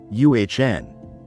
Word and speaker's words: an: And just like a and also has a soft unstressed pronunciation in everyday speech, it usually sounds like uhn.